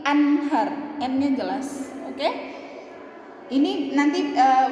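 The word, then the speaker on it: أنهار: sini serta kasih contoh nun mati ketemu sama ha ya maka bacanya jelas ya Nun nya itu jelas an ad Min ya bukan bukan Aher bukan juga Ahar bukan juga amhar tapi Anhar Angeles Hai ini nanti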